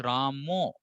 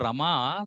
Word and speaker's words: Rama: that actually for example, like Bengal, their pronunciation is Ramo. Where is O here? There's no O at all. But there's no problem because they are used to calling Rama as Ramo, because in their language everything is O. There's no A generally, right? So it's not Rama for sure, but Ram can be pronounced as Ram, Rama, Ramo. It's all the same.